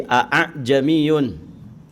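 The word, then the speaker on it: ءَاعْجَمِيٌّ: Nah, di dalam kaidah bahasa Arab ini agak berat ya, dibaca dua kali a. Maka ditashil. Cara bacanya ditashil. Maksudnya apa? Membaca hamzah kedua dengan suara antara hamzah dan alif, yang merupakan satu-satunya bacaan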